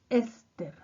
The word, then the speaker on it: éster: Pero el que nos interesa es el grupo funcional éster. Acento en la E.